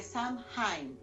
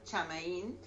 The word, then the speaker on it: Samhain: Es increíble, pero bueno, esa es la tradición y con eso entonces decimos que Samhain o Chamaín es de acuerdo a la región, el cómo se da la pronunciación, es que se dice que es el fin y el inicio.